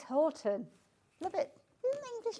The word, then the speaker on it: Houghton: We pronounce it Horton. Horton. Yeah, because when you look at the spelling, Houghton, we've got, I call it Cofton up the road, which is C-O-U-G-H.